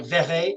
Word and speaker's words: Verret: I call JW, it's Verret, but Verret is as it's properly pronounced.